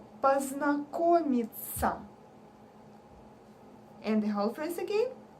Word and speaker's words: познакомиться: Another mistake is the last word when people say ся, познакомиться. No. When we write ся or ся, we say it like ца, познакомиться.